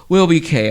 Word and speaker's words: WILLBEEKAY: Also, you can check us out on Instagram, Trip Up Radio Show on Instagram, or WILLBEEKAY, which is Will Be K.